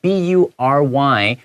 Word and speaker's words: bury: 没错，我觉得最后一段这个地方我读起来很有余韵的感觉。好，Evan's search for answers reveal 这个字的意思呢，就是揭露出了 more than he ever expected。好，这个洞不挖还好，越挖越深呐，里面水很深呐。Hidden stories 隐藏的故事啊，buried truth 这边要注意要小心 bury 这个字哈，B-U-R-Y bury 它这个 U 的话是发 a 的声音，要特别注意。它现在变成 VPP 之后，buried truth 就是被掩盖的这个被掩藏的真相。And a mystery that refuses to stay quiet，一个不愿沉寂的谜团就这样子被揭开啦。